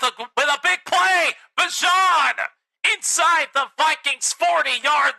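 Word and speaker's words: Bijan: You don't say his name as Bjan Robinson. It's Bjon.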